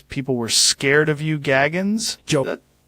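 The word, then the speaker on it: Goggins: David Gogggins.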